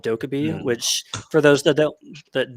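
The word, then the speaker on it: 도깨비: But Mm, the thing that came up is people kept mispronouncing the name Dokkaebi. They were calling it like Dokaibi and things like that.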